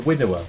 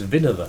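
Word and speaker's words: Winawer: Everyone calls it the winnower. I think it's Vinover, isn't it? Yes. But everyone calls it winnower.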